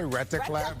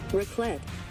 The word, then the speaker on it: raclette: I said, what did I say? Rataclat? But this is how it's said. Hold on. I'm going to let this lady say it. Raclette.